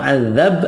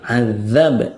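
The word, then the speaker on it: عذاب: ada yang lain ya Nah terkadang kita terkecoau dengan terjemahnya kan pakai Z sehingga kita melafazkannya azab azab padahal itu Zai azzab itu Zai yang benar adalah azab adzab dza D adzab kemudian yang ini nih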